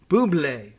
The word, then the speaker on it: Buble: Courtney Buble, like Michael Bublé, it's pronounced or spelled the same way, so we're pronouncing it the same way.